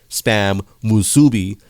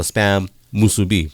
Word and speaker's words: Spam Musubi: So for those of you that don't know, it's not Spam Musubi, it's a Spam Musubi.